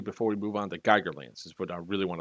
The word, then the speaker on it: Geigerlands: special um wow yes geigerlands not gigger lands like the artist but geiger like the counter okay so you guys